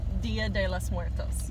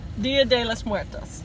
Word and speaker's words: Día de los Muertos: Día de los Muertos. Día de los Muertos. Just said it right. Día, say it again. I got it. Día de los Muertos.